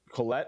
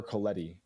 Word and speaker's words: Collette: Collette or Coletti. I don't. It's COLLETTE. To the pronunciation officers, let us know.